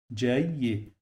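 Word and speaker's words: جيد: The first time we pronounce it like I. So we have here sukoon. This sukoon, when we add it here, we must pause on the letter. So I have to pause here. So that's why I say J. And the second one, it will get kasra here, like this. That's why I pronounce it like Y.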